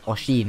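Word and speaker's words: Oisin: He basically had they called it a fracas or fracas, however you guys want to pronounce it, with a producer, sorry, called Oshin, or O-I-S-I-N.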